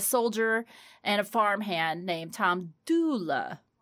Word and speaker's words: Dula: Not Tom Dooley. But his name got mispronounced because of the dialect in the area and the oral telling as it over the years. It became Tom Dooley instead of Tom Dula.